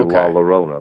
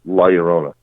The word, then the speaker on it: La Llorona: It's spelled with 2 L's. It looks like it should be La Llorona, but it's La Llorona.